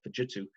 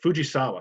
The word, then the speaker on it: Fujisawa: that panasonic built uh called fujitsu or fujisawa sorry geez that was terrible butchered that one um they where they